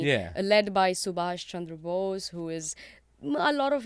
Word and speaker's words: Bose: Chandra Chandra which is Bo se like pose like the most durable